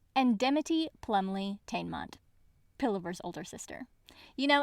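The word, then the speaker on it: Dimity Plumleigh-Teignmott: She made friends with, in this audiobook pronounced correctly, Shiak Macan, Sophronia Temenick, and Dimity Plumley Tainmont, Pillover's older sister.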